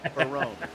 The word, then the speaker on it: Barone: Dan Baroni is actually Dan Barone. There is no E. So, we'll call him, the trombone. Okay, I like it. Dan Trombone. Got it. So, Dan Barone. There's no E. The E is silent.